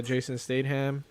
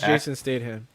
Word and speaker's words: Statham: show it's yeah no name is jason statham that's how you say it how do i say it i've never heard of state state ham i might be saying